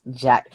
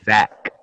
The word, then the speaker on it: Zack: I don't like just Jack Snyder's Justice League.